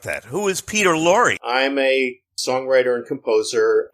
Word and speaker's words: Peter Lorre: We're here today with Lee David Zlotoff and Peter Lorre. Am I pronouncing that correct, Peter? Yes, you are.